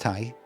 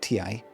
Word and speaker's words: Thai: And it is pronounced Thai, not TI.